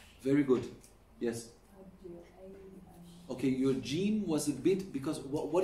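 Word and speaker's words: جيم: Like jim, gg is wrong. It's jim, it's not jim. Ja. Edja, ash, edja, ja is wrong.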